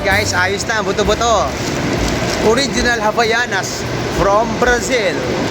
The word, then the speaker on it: Havaianas: All right guys Ayos na buto-buto original Havaianas from Brazil havanas ang pronounce pa nito jaai see you Salvador ha